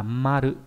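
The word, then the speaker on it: 丸: Chữ hoàn này có âm kunyomi là maru, ví dụ trong từ marui là tính từ đuôi y, có nghĩa là tròn.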